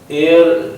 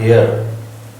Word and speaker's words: heir: एयर का मतलब होता है HEIR, ये एयर बोला जाता है। This is right pronunciation, that is नॉट हेयर। HEIR, आप इसे एयर पढ़ोगे, एयर।